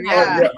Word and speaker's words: Briar: Briar. That's actually the correct pronunciation.